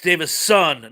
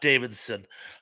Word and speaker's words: Davison: is correct to me it's Davison not Davidson uh you know I